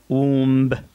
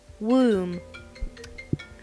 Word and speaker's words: womb: فاللفظ الخطأ هو womb، womb، womb. هلا بنشوف اللفظ الصح معها يا womb.